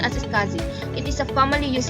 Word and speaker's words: SCSI: small computer system interface and is most commonly pronounced as scasi it is a formally used interface for these